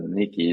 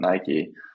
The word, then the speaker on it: Nike: send it over okay they said my brand name wrong they said nikki not nike we need to redo